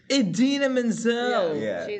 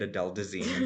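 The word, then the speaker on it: Idina Menzel: Adena Menzel. Oh, of course. Referencing the famous moment of John Travolta at the Oscars pronouncing it Adel Desine.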